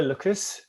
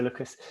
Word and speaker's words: Lwcus: first instance so um lotto lookers is it lucas i'm looking at the way it's spelt but uh i think it's lotto lucas um it's a new